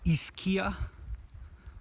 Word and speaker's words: Ischia: This is Ischia. And the way to remember how to say it is if you have more than one E, that's ease.